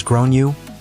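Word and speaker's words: Gráinne: realized that the kid is called grain generally pronounced as grown you or thereabouts I tried to be very tactful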